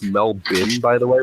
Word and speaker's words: Melbourne: stuff in Melbourne that's kind of cool it's pronounced Mel Bim by the way like Melbourne not Melbourne a